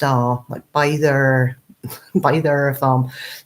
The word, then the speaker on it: Byther: are but by either by their farm so we put an end or are on the end of by the to make by their arm it was just it